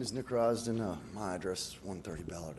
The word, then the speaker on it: Risden: next is and I may be pronouncing this incorrectly Risdon rise didn't all right thanks for correcting me my name is Nick Roz do know my address 130 Ballard Avenue on canine